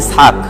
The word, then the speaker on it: ইসহাক: সালাম বাপের নাম ইসহাক ইসহাককে ইউরোপিয়ান আমেরিকানরা বলে আইজ্যাক আইজ্যাক নিউটন আইজ্যাক নিউটনের নাম আপনারা অনেক শুনেছেন যে বিজ্ঞানী নিউটন তো বিজ্ঞানী নিউটনের নাম কিন্তু ইসহাক কিন্তু উচ্চারণ করা হয় ইংরেজিতে কি আইজ্যাক কিন্তু আসলে কি ইসহাক ইসহাকের ইংরেজি ভার্সন হচ্ছে